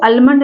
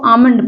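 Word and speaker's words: almond: काफ माने बछड़ा देखिए इसको आलमंड नहीं पढ़ा जाएगा इसको आमंड पढ़ा जाएगा वैसे ब्रिटिश इंग्लिश में और अमेरिकन इंग्लिश में दोनों में फर्क है अमेरिकन इंग्लिश में इसको अलमंडा पढ़ते हैं यहां पर ल साइलेंट है यहां पर देखिए एल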